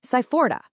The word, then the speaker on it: sai fora: Moving on to our next boundary setter, we've got sai fora, pronounced sai-fo-ra.